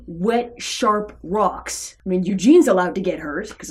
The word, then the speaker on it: Eugene: doing to his name Eugene what go back Eugene yeah it's clearly Eugene Eugene Eugene Eugene Jean you put the wrong emphasis on the wrong syllable yes what is it